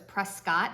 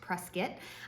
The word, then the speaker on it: Prescott: you recall if you refer to it as Prescott I know that it it looks that way but it's pronounced Prescott um because we're backwards I guess in the